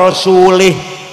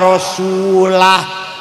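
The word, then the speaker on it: rasulihi: Ada orang baca Quran, wa annallaha bari'um minal musyrikin wa rasulih. Allah tidak melindungi orang musyrik dan tidak melindungi Rasulullah. Salah bacanya itu. Yang benar wa annallaha bari'um minal musyrikin wa rasulah.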